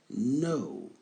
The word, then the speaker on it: know: I know. Ne prononcez pas le K. Il est là, mais on ne le prononce pas. Ça donne I know.